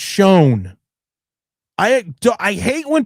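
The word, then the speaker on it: Schoen: Joe Shane has shown ever since then that he does and and first of all it's not Shane, it's pronounced shown.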